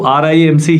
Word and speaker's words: RIMC: लोग इसको रिम्स कहते हैं, रिम्स मत बोलिए, इसको आरआईएमसी ही प्रोनाउंस करा जाता है, राष्ट्रीय इंडियन मिलिट्री कॉलेज।